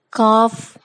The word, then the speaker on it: cough: GH is sometimes pronounced like F in the words below. Draft, cough, laugh, tough.